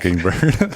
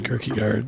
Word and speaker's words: Kirkegard: couldn't say my name, so it was like Kicking Bird. You know what I mean? Report to the whatever. You know, and I'm like, it's Kirkegard.